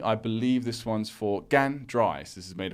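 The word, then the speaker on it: 干: In the front entrance, because it's Gan, so it's or at least this pronunciation of this character, meaning dry, is Gan. So it's out in the first tone, so it's front of the entrance.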